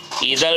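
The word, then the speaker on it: either: can teach you English आइर इधर भी बोल सकते हैं आदर भी बोल सकते हैं नो डाउट इस पर आप शक मत कीजिए इधर भी इसे प्रोनाउंस कर सकते हैं आदर भी प्रोनाउंस कर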